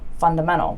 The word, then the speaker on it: fundamental: said "funamenal" funamenal okay so I actually said funna funna menal now maybe I'm actually saying that wrong maybe it's supposed to be "fundamenal" fundamenal where you actually still pronounce the D a little bit like funda menal but I don't even